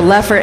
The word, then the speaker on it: Leffert: I put the Leffert in effort.